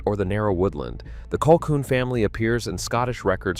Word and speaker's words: Colquhoun: Number 14, Colquhoun, pronounced Colquhoun, and the clan that was nearly destroyed by the MacGregors. Colquhoun, pronounced Colquhoun, is another of those Scottish surnames that announces itself immediately as genuinely Scottish.